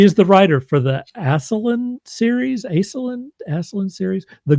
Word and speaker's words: Ascelin: So, did I mispronounce anything there? Uh, Aselin. Aselin.